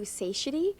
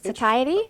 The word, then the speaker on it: satiety: Don't be afraid of fat because it will give you sidety and you'll feel better. Sitty. Sitty. Is that how you say it? That's satiety. Okay.